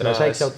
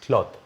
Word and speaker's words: Claude: No es iCloud, es Claude. Es o Claude. Claude. Claude. Se escribe Claude.